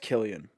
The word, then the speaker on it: Cillian: uh cillian murphy and it's pronounced killian killian murphy uh tom